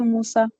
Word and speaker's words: MOSA: This is Musa. MOSA, Microsoft Online Service Agreement. MOSA. Or you can pronounce it any way you want. But that is how we pronounce it for anybody so that they will get it.